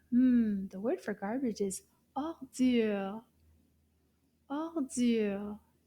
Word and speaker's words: ordure: The word for garbage is ordure. Ordure. Combien de syllabes dans le mot ordure? Ordure. Deux syllabes.